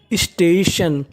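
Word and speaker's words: station: TION को हम लोग इंग्लिश में पढ़ते हैं शन, यानी कहीं पर आपको TION लिखा मिले तो आपको उच्चारण करना है उसका शन।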